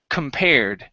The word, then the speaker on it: compared: word compared so here instead of com this is Kum because the stress is on the pair okay so this is compared compared compared okay good um next